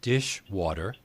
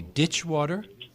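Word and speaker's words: ditchwater: the origin for example Dulles dish water which you say should be ditch water that's an interesting what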